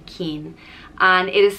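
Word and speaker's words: Cian: all know akian and it is pronounced just keen and it is spelled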